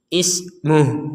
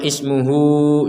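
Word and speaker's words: اسمه: Wawu ini tidak berfungsi karena kita berhenti. Ismuh nggak ada panjang. Jangan dibaca ismuhu, jangan.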